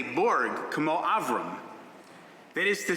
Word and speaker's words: Burg: The family name Burg is pronounced the same in English, whether you spell it B-U-R-G or B-E-R-G, but in Hebrew, I have to be more specific. Korim li Burg, lo Berg. My name is Burg, B-U-R-G, not Burg, B-E-R-G.